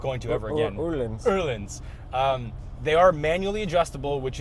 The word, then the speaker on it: Öhlins: But what I do like is these Öhlins dampers, which are great. However, lots of however in this video. Wait, did you say it right? No, and I'm not going to ever again. Öhlins.